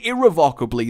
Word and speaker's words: irrevocably: Unbelievably, irrevocably, yes, irrevocably and irrevocably the correct way to say that word, the worst.